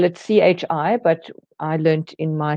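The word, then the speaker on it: qi: some people spell it Chi but I learned in my Chinese textbooks it's all pron it's all spelled with a q but it's pronounced Chi um and acupressure for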